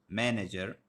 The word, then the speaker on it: manager: for example we have the word manager here nah nah yeah the first one will be stressed this one will be unstressed and this was this one will also be unstressed similarly we have silently